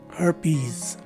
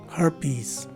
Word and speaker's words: herpes: found inside the parentheses the first letter e is a swa sounding letter e the second letter e is a long e and the letter s at the end of the word takes a z sound as in zebra so the proper way